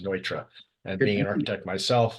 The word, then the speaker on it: Neutra: It's the German pronunciation of it. Not Neutra. It looks like Neutra. You're right when you look at the word, but it's actually pronounced Neutra.